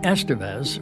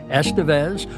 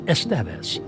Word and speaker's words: Estevez: However, my last name Estevez was another matter altogether. For the record, there are 2 correct pronunciations, Estevez or the Spanish pronunciation Estevez.